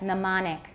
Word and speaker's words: mnemonic: 词首有一些例外 like mnemonic. 词首有一些 M 不发音.